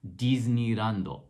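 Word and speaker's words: ディズニーランド: And so what they do to spell that one is they actually spell it with a de and then a small I to indicate that it's supposed to be a D sound.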